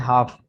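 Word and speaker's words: half: इसके बाद है हाफ, इसमें भी एल साइलेंट है। HAF, हाफ।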